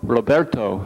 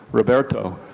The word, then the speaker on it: Roberto: El Presidente Alejandro Padilla, me llamo Roberto, not Roberto.